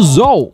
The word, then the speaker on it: Zol: Que é nada mais, nada menos que o Zol, que é assim que é a pronúncia dele. Se você falar Chu, o problema é seu.